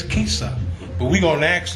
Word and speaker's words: CISA: me or you HS the pronunciation is Kissa stands for crazy inst style artist we have from Northwest